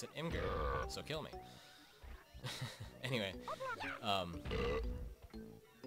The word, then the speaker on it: Imgur: Yes, I pronounce it Imgur, so kill me.